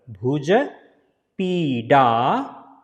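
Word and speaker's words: Bhujapidasana: And this D will be pronounced as a R. Originally, if you can say it, it is a R. Do you see my tongue? R. Sliding the hard palate like this. So Bhuja Peedasana.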